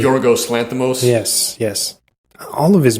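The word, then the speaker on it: Yorgos Lanthimos: name um Lo Loos how do you say joros Lanos yes yes all of his movies are like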